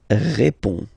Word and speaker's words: réponds: Je réponds. Okay, so you can see that D and S here are not pronounced.